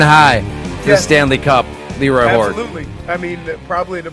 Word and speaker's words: LeRoy: It's Leroy, baby. You gota You gota have that emphasis on the Lee.